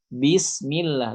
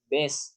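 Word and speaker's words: بسم الله: Bismillah, bukan bes. Salah. Itu karena kita tidak menyempurnakan kasrohnya.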